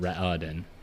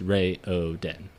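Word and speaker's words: Raoden: long where there it's not R it's not Ren it's Ray oen and then it's Kai and Duke tell Ry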